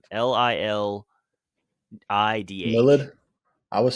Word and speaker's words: Lilidh: I was saying Lilith, I think. They say Lily is what it sounds like. Really? Which is crazy. So yeah, the so DH on the end is just like a waste of space.